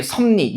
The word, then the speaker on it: 섭리: 예, 섭리. 얘는 두 가지로 다 나타나죠. 그죠? 그럼 일단 보세요. 최종 결과가 섭리. 비읍이 뭐로? 미음으로. 비음으로 바뀌었죠.